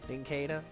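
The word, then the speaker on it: Nincada: You start pronouncing it nada. Ninkada. Like a cicada.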